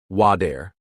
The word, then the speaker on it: water: Americans don't always pronounce the T sound clearly. Example, water sounds like wadair.